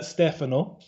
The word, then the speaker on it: Stefano: offered just to say it so it's uh stefano um but the business name is uh a lot easier to pronounce and that's puck creations um and uh